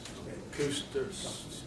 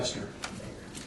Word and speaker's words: Custer: Cooster, Larry Cooster Drive or something, Cooster Avenue, something like that. Custer, Oh, okay. that's how they pronounce it.